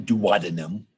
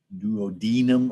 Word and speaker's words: duodenum: It's not douadinum. Some people pronounce it like that, but it's duodenum or duodenum.